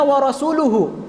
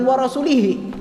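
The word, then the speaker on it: وَرَسُولُهُ: Minal musyrikin warosulih padahal yang benar dalam Alquran itu inallahha bariun Minal musyrikin a warasuluhu bukan wa rasulihi Nah karena tidak ada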